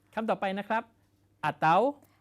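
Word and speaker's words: atau: ต่อ ไป นะ ครับ อาเต๋า อาเต๊า เ อาเต้า หรือ อาเตา นะ ครับ อาเตา แปล ว่า หรือ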